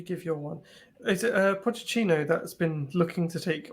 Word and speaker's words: Pochettino: Andy, just before you give your one, is it Pochettino that's been looking to take Ollie's job? Yeah, is that how you pronounce it?